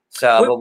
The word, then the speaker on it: Seaux: So is spelled SEAUX. That's a homage to my French Creole roots from Louisiana.